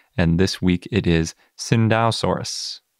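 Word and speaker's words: Tsintaosaurus: this week it is Cinda soros spelled like Tsingtao soros if you've only seen it written before but before we get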